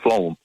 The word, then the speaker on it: phloem: are called phloem bundles spell that word sweet P th l OE m it's pronounced phloem yeah flown bondings yeah